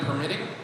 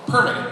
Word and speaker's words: permitting: When we talk about store design and permitting, I put the emphasis on the wrong syllable. Permitting, there we go.